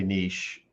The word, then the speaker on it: niche: it many ways okay we say we say nietzsche like the philosopher oh i say niche what's your niche in